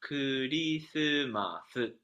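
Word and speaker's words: クリスマス: But when Japanese speakers produce Christmas, it becomes Kurisumasu, five more Mm.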